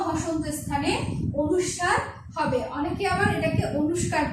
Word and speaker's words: অনুস্বার: ম হসন্ত স্থানে অনুস্বার হবে। অনেকে আবার এটাকে অনুষ্কার করো, ঠিক না, অনুষ্কার কিন্তু ভুল, এটা হবে কি অনুস্বার, ঠিক আছে।